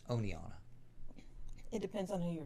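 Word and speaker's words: Oneonta: i hate to say it's not aniana it's oneonna it depends on who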